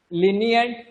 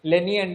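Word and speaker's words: lenient: next पिला माने कोन लीनिएंट लीनिएंट लेनिएंट नहीं लीनिएंट एल आई row pronounce हो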